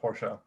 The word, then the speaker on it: Porsche: being paraded on social media about how insane Porsche there you go well no see now you're